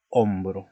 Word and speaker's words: hombro: Por ejemplo, tenemos la palabra hombro, ¿no? Es una palabra muda, perdón, es una letra al principio que es H, pero es muda. Como es H, es una consonante, no se pronuncia, decimos hombro, ¿de acuerdo?